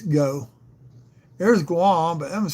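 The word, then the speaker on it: Geaux: It's G E AU X go.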